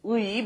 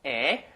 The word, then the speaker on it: 의: The original pronunciation is 의, but since that's very hard to pronounce, people say 에.